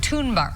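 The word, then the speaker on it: Thunberg: magazine's Person of the Year is great at toon bar soccer champ who won the World title for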